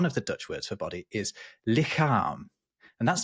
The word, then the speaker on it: lichaam: Oh, actually, my favorite one, though, is the Dutch word for body, or one of the Dutch words for body is lichaam, and that's spelled Lichaam.